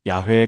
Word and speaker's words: 야훼: 오늘날 대부분의 학자들은 원래 발음이 야회에 가까웠을 것이라고 추정합니다.